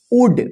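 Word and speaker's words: would: देखिए यहां पे डब्ल्यू ओ यू एल डी, इसको क्या पढ़ेंगे, देखिए डी से पहले एल आया है तो साइलेंट रहेगा। वुड, वुड का मतलब क्या होता है गा गी गे, ठीक है।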